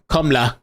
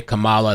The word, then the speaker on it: Kamala: He says, don't vote for Kamala, or however you're supposed to say it. They say now that, like, if you say Kamala, it's an attack on her, personal attack.